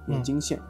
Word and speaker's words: 盐津县: 会读错，没有什么特殊的发音啊，就是食盐的盐，天津的津，盐津县。